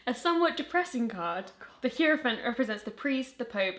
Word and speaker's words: Hierophant: Flyerfant. Flyerfant, it's an H. Hierophant. Hierophant, I think is how you pronounce it.